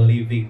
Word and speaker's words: LVNG: ngobrol-ngobrol soal lpng atau living dok apa sih dok living itu lpng tulisannya ini apa sih dok jadi bacanya living ya gitu ya kehidupan sebetulnya kehidupan